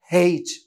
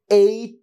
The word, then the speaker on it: H: কেউ কেউ স্টল দিয়ে অতিমাত্র ঢং করে বলে হেইচ দুঃখিত হেইচ বলে কিছু নাই যদিও এইচ এ হ উচ্চারণ হয় বাট এটার একচুয়াল উচ্চারণ হবে এইচ এইচ right okay so the letter is এইচ